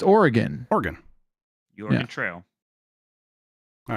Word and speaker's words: Oregon: majority of my life I used to call it Oregon but it's Oregon Oregon the oron trail